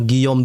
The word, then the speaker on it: Guillaume: Saya baca tadi Guillaume D ya. Rupanya cara membacanya adalah Guillaume D.